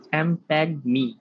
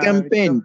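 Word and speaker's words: champagne: চ্যাম্পেগনি স্যার, জিটা উচ্চারণ হয় না। চ্যাম্পেইন স্যার, চ্যাম্পেইন, চ্যাম্পেইন লেখছে এটা?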